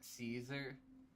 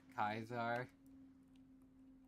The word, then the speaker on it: Caesar: happen but whatever also the Temptation for me to say uh Caesar instead of kaizar a true to kaisar the only reason I